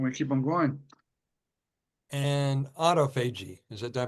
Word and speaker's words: autophagy: And autophagy. Did I pronounce it right?